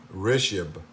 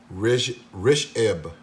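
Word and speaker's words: Rishabh: This multimeter, it was made in India by a company called Rishab, if I'm pronouncing it correctly. Rishab.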